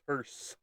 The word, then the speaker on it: hearse: Is it hearse or Hearst? With a T, because they're like, that's not how it's pronounced. It's not pronounced Hearst. It's pronounced hearse. And it's just like, well, go look it up. Go look it up. That's how. And some people will pronounce that hard T at the end, but there is no. It is a silent T, not a hard T, and no pinky T.